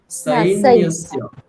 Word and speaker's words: সৈন্যস্য: সকার, ওখানে দন্তীয় স আছে, সুতরাং সৈন্যস্য, সৈন্যস্য বললে হবে না, সৈন্যস্য। বলুন আবার। আবার বলুন। নায়কা মম সৈন্যস্য। আবার। নায়কা মম সৈন্যস্য। সই হয়ে গেল, সাই, ঐকারটা স্পষ্ট, সই নয়, সাই।